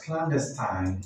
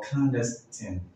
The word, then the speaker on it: clandestine: The next word can be pronounced as clandestine or clandestine. Clandestine or clandestine.